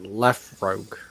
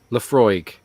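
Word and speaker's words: Laphroaig: How do you pronounce that? Lafroig. Lafroig.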